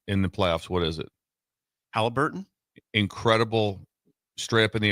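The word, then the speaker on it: Haliburton: Halliburton. He couldn't get a shot. I mean, and right now, his biggest thing. What has he done? He's done 2 things in the playoffs. What is it? Halliburton.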